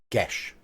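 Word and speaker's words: geas: gas it's gash yes gesh and that is correct no other pronunciation is correct on that one it is gesh because it is Gaelic gesh that's why we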